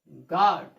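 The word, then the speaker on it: guard: यू का उच्चारण नहीं करेंगे। देखिए आप, जी के बाद यू, जी के बाद यू, जी के बाद यू, तो जी क्या होगा, यू क्या होगा आपका, साइलेंट लेटर होगा। ये यू देख रहे हैं ना, यू साइलेंट लेटर आपका होगा। इसका उच्चारण नहीं करते हैं।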